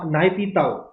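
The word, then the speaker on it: Nay Pyi Taw: अच्छा, म्यांमार की कैपिटल है नायपीताओ, नायपीताओ, ठीक है, स्पेलिंग देख लीजिएगा, PYITAW, ठीक है।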